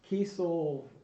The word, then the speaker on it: Kiesel: Kiesel, that's how you say it? Yeah, it's Kiesel.